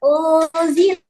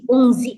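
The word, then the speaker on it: أُنزِلَ: Nah, unzila baca ikhfa tipis, unzi karena bukan huruf tahnya tapi bacanya tipis. Unzila bukan ungzi nah tebal.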